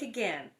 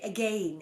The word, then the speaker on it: again: Everyone laughs till their sides ache again at lousy Liza Jane." Again, so I guess you have to say again instead to rhyme with Jane, because we say again, but say ache again at lazy Liza Jane.